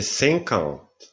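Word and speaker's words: cinquante: 10 30 si dice Caravan 50 si dice sencon 60 si dice suassant Basta ci fermiamo qua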